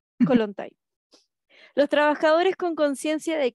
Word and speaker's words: Kollontai: Entonces el primero, Alexandra Kollontai, 1917. ¿Cómo se pronuncia? Kollontai. Kollontai.